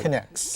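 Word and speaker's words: K'NEX: So say the name again and spell it. So that Connects.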